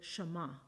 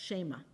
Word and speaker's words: Shema: The beginning of that verse in the original Hebrew begins with the word Shema. It's sometimes pronounced Shema.